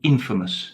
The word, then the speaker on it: infamous: So be careful with the pronunciation there. So famous and infamous, not infamous. And of course, famous, I'm sure you know, means well known to many people.